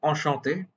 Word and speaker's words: enchanté: You'll notice both are pronounced enchanté, but they're spelled in a different way. That extra E is added when the speaker is female. When the speaker is a woman, then that E will be added, but the pronunciation remains almost the same.